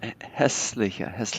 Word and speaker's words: hässliche: And this is pronounced hässliche. This might be a little bit softer A, not quite as hard because it's followed by two consonants.